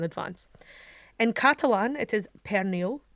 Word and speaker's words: pernil: on J am o n apologies for my pronunciation and advance in Catalan it is pernil p ER n IL in english hum Italian